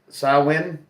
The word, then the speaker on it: Samhain: Because Halloween is at the same time of the year as a Samian, whatever, pronounced as Samhain.